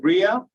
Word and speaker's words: Ria: I have a question for, is it Ria? Did I say it correctly? Yes.